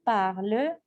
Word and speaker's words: parles: Ici, je ne prononce pas le S.